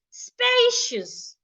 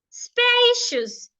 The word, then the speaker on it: spacious: knowledge knowledge Le knowledge another example spacious spacious spacious has two syllables as well but then excuse me it's an adjective spacious not spacious spacious